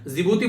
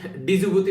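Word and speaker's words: Djibouti: जिबूती बोलते हैं, D silent रहते हैं यहाँ पर, ये याद रखना क्योंकि कई बार इसको डिजिबूती पढ़ते थे, ठीक है।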